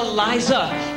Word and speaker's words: Liza: always have to say, it's Liza with a Z, not Lisa with an S. Cause Lisa with an S goes not Z. It's Z instead of S, I instead of Lee. It's simple as can be, see Liza.